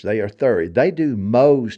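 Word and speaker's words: Mohs: are 30 they do Mo's technique m o h uh s is they pronounced it are you familiar with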